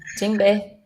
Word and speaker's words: djembe: Eu anotei o nome de um instrumento de percussão aqui, é djembe, é assim que fala, é assim que se pronuncia? Isso, djembe.